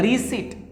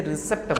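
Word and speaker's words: receipt: Next है रिसिट। Guys यहाँ पर ध्यान देंगे, बहुत सारे बच्चों को आदत है कि इसे रिसिप्ट बोलते हैं, रिसिप्ट नहीं बोलना है, पी साइलेंट हो जाता है।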